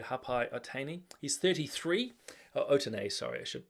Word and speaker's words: Otene: Otene, sorry. I should pronounce it correctly.